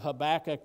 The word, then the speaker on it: Habakkuk: And then chapter 3, Habakkuk's beautiful worship. I've also heard the book of Habakkuk pronounced Habakkuk, okay? Potato, potato. Pronounce it however you want to pronounce it.